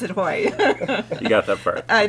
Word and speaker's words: Haughey: Alex, yeah, the last name was, remember to pronounce it Haughey.